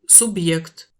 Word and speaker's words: субъект: On trouve cette lettre dans quelques mots étrangers comme субъект, sujet. Le B est bien dur et le Y est prononcé Y.